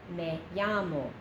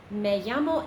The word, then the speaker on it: me llamo: llamo sign but I I frequently hear kids say may llamo s and they feel